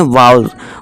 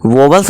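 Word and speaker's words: vowels: English में इन्हें बोलते हैं वाउल्स, वोवल्स नहीं।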